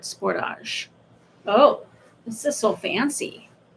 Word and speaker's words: Sportage: In Canada, it's pronounced like the French word sportage.